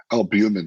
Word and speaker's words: albumin: what is that albumin it's approach I can't pronounce it albumin there we go albumin it cuts down on